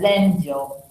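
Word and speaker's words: 禅定: In Japanese, this is how they write it, which is pronounced as Zenjo.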